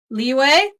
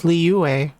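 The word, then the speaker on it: Liyue: EOS that is great leeway leeway I thought it was liuway yeah but like pronounced quicker than that yeah that's kind of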